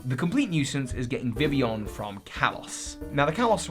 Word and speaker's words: Vivillon: And by the way, I'm totally mispronouncing it. It's actually Vivillon.